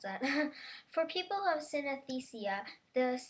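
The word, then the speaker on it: synesthesia: confusion of Senses footnote if you want to know how to pronounce cesia it sounds like an anesthesia but with sin at the beginning I don't know how to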